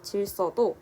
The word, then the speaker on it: 질서: 그리고 두 번째 예시인 질서도 여기에 있는 리을로 인해서 쌍시읒으로 발음이 되고 있죠.